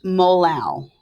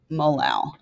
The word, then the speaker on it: molal: to be little m lowercase m and it's pronounced molal molal so instead of molar molar we're going to